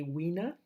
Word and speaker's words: Wiener: I say Wiener, but it's probably Wiener, I guess, because you pronounce it the English way, but it's such a German-sounding name.